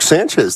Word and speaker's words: Sanchez: on uh and Mark Sanchez did that game sanchai stani put some respect on his name that's not how you say it his name is Sanchez but you know they